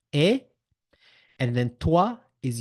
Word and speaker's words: et: you SAA and you say SAA and you end the conversation it's not very good so you